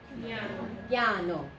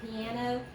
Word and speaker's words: piano: Piano. Not 3 like in English. It's not piano, it's piano.